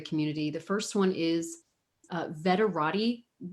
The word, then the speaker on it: Veterati: The first one is Veterati. That's spelled kind of like Maserati, but veteran at the front.